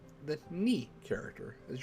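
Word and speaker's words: に: Ni. The ni character. As you pronounce this as ni, like knee, as in neat.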